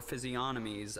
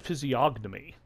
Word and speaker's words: physiognomy: actor is right there I'd always pronounce that physiognomy like I'd actually pronounce the G hmm now I feel